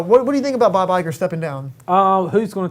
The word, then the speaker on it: Iger: bob igor bob igor igor has stepped down bob iger igor dude it's come on remember that's not how you pronounce this i just call him have you